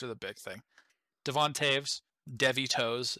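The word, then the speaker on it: Toews: the big thing devontaves devitos is what i'm gonna call him but his name's pronounced taves he's new he's really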